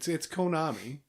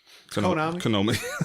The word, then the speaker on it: Konami: Yeah, no, it's Konami. Konami.